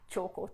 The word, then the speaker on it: Tjhoko: us an email to support choco paints and choco punch is spelled t-jh OKO hence p-a-i-e-t dot Co Dot